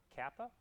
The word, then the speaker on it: kappa: Just in case you were curious how you pronounce this, that's mu1, mu2. This is kappa.